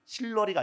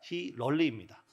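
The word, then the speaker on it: Hillary: 실러리가 아니라 히럴리입니다.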